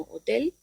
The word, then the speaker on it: hotel: La H, H, como hemos dicho, es muda, no se pronuncia, y la encontramos en palabras como hotel.